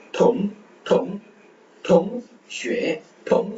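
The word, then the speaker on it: 同学: ஸோ எக்ஸ் வரும்போது அந்த SH ஷி அந்த மாதிரி வருது. அடுத்து UA ஷே. அந்த நம்ம ஈக்குவல் பார்த்தது ஷே. தொங் தொங் 8 தொங் தொங் தொங் ஷே தொங் ஷே தொங் ஷே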